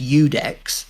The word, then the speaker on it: Iudex: And I came across that, and it's pronounced Udex, so it's a silent I as well, which, as well as looking like an L on most typefaces, it is a silent I, so you don't even say it, and it's Udex, and nobody knows how to spell it.